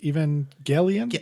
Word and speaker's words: Evangelion: Neil, have you ever watched Evangelion? Yep, hard G.